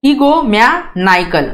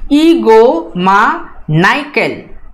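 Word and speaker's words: egomaniacal: यहाँ पे ई पे ये एसेंट मार्क दिया हुआ है और एनआई पे एसेंट मार्क दिया हुआ है। दोनों भी वर्ड्स को आपको थोड़ा सा साउंड हाई रखना है प्रोनाउंस करते समय, और थोड़ा सा जो है एनआई को ज्यादा स्ट्रेस करना है as compare to E, right.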